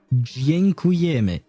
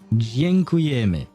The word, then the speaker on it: Dziękujemy: And how do you pronounce it? Dziękujemy. I think that's how you say it. Dziękujemy.